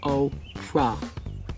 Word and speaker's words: Oprah: before trying in vain to get Homer to pronounce her name correctly. Hey, Homer. My name is Oprah.